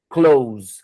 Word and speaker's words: clothes: E a fala é som de K, som de L, som de O, U e Z. Close. Como verbo fechar.